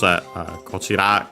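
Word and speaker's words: こっち: Same rules, kochira contracted here as kochi, on its own also as kochi with the accent on the last mora, unlike the rest of the words unaccented.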